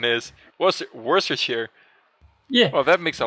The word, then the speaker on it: Worcestershire: Yeah, well, it's just that Worcestershire, like this pronunciation, makes me think like it's kind of like the worst kind of shire or something.